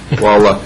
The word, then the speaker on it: Wahluck: I, was thinking about Wahluck. Is that how we pronounce it? Yep. Yeah. Wahluck.